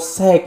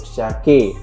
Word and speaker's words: Shake: Sek ya, pengucapannya gitu ya, Sek ya. Dan mohon maaf kemarin aku sudah mereaksi dari penyanyi ini guys ya, dan itu salah penyebutan aku ya. Aku sebut di situ Datuk Syake, tapi di situ juga